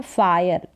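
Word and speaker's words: fire: आग क्या है फायर यहां पर यह जो ई है ना लास्ट में अगर ई आता है मोस्टली या सारे जो ई आते हैं वो साइलेंट ही रहते हैं कुछ एक स्पेलिंग को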